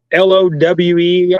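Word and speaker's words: Lowe: low boat um oh l-o-w-e I think is how you say the brand low okay yeah yeah I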